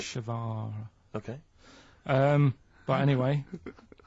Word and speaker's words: Che Guevara: Che is like shake, and his surname is like guitar. Right. Chevara.